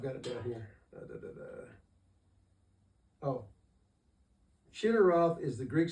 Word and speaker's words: Chinneroth: Now it says in the plain south of Chinneroth. What is that? Chinneroth. You have any idea what that means? Kinneret is another pronunciation for that.